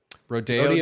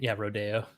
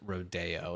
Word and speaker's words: Rodeo: Especially considering it's pronounced rodeo and not rodeo. It's just rodeo.